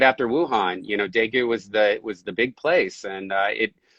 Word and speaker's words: Daegu: you are currently in, if I'm reading right, Daegu, South Korea. How do you pronounce We're that? in, yeah, Daegu.